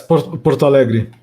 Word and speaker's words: Porto Alegre: Yes, Porto Alegre.